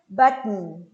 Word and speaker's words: button: Button, button. Aqui no Brasil a gente fala bottom, né? Ah, ganhei bottom. No, it's a different thing.